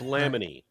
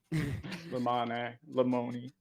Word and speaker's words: Lamoni: a piece of yeah it's laminy like you fix your pronunciation yes Lamoni um do you want me to read yes